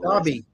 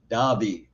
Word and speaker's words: Daube: Ed, I don't know if I pronounced your name wrong. Daube. Daube.